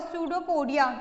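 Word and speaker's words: pseudopodia: स्यूडोपोडिया को पी से लिखते हैं, पी साइलेंट होगा, स्यूडोपोडिया।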